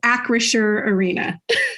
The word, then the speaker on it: Acrisure Arena: because I want to make sure we're all pronouncing that right yes Acer Arena what is Acer Acer is an insurance company